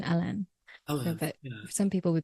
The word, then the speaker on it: Alain: uh it's spelled as a l a i n which is very much a very French pronunciation alen Al but some people